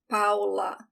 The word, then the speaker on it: Paula: a paola a brilliant listen how i pronounce paula p a it's a very open a paula another example here antonio